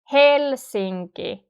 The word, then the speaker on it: Helsinki: And one important thing about the Finnish pronunciation is that the word stress is normally always in the first syllable. So hel is the first syllable and it's the strongest. Helsinki. The rest are not stressed. Helsinki. Okay? The intonation is falling. It's going downwards.